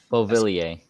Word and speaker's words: Beauvillier: Beauvillier.